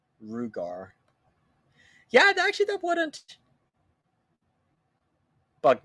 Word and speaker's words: Ruger: Everybody says Ruger as we typically hear it, but phonetically Rugar.